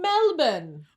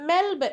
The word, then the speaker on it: Melbourne: Today we're in Melbourne. Ooh. Melbourne. Isn't that how you say it? Melbourne. Melbourne. Melbourne. Yeah, I think it is. I don't think you're supposed to say the R.